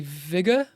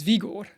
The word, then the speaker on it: Vigor: accent it would be Viger yeah Vig v i g o u r but because we're in Sweden the pronunciation is Vigor Vigor but yeah yeah